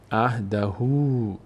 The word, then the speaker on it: عهده: داره بعدش واو اومده اولاً که این صدای او می‌گیره عهدهو این مد هم سبب میشه که همین صدای او باز کشیده هم بشه عهدهو عهدهو عهدهو عهدهو این به این خاطر این مد گذاشته شده خب فل یخلف الله